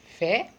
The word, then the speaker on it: fé: É uma palavra pequena, é uma única sílaba, é uma única palavra, fé. Tem que ter o acento agudo, não é? Senão fica fi. Então tem que ter o acento para ser fé.